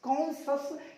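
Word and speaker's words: conscious: कॉन्शियस, यहाँ जो सी है ना इसका उच्चारण नहीं करेंगे, सिखाऊंगा मैं साइलेंट लेटर्स के अंदर।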